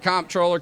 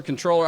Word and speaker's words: comptroller: They don't even know how to pronounce the word comproller. Controller.